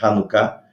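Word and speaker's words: Hanukkah: se escreve com h às vezes se escreve com ch por causa da pronúncia do hebraico é hanuká eh vejam aqui a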